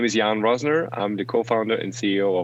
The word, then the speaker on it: Jan Roessner: your name one more time i will not pronounce it my name is jan rosner i'm the co-founder and ceo of one earth